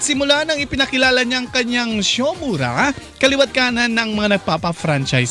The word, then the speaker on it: Siomura: Paano ba nagsimula itong iyong Shomura? Tama ba yung pagkabigkas namin Shomura?